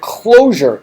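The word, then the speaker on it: Clojure: a fairly recent language called closure but spelled with a J's you see her as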